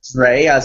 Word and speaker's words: Dreas: Here's how you pronounce it, Art. It's like Dre, as in Dr. Dre, and then us. Dreas.